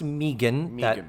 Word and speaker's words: Megan: So, um, the actress is Megan Follows and it is pronounced Megan that was put explicitly in the IMDb page about her.